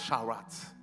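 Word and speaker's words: שרץ: très important sinon initialement c'est le mot charat ça s'écrit charat ça se prononce charat ok le mot charrat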